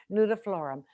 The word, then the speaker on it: nudiflorum: the hardy geranium hardy um jasmine nudiflorum i'd spell that but i might get it wrong n-u-d-i-f-l-o-r-u-m that's close knew the floor perfect jasmine noodle the the winter jasmine winter